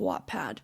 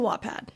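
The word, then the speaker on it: Wattpad: also the spelling of Watt Pad because it's actually W A T P A D. I'm from Utah, so obviously I don't pronounce the T's. But anyways, back to Wad.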